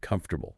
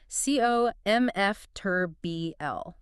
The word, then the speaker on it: comfortable: A learner reading from a book sees the spelling and tries to pronounce every vowel. Comfortable. Four distinct beats. Four beats. But a native speaker swallows the vowels to keep the rhythm. It sounds like cf turb blurbl.